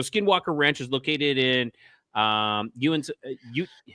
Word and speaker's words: Uinta: UINTAH. All right, I'm gonna have the thing say it for us. Yeah, me too.